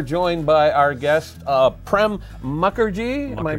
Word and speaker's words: Mukherjee: now we are joined by our guest uh prem mukherjee am i pronouncing that correctly yes you are hi you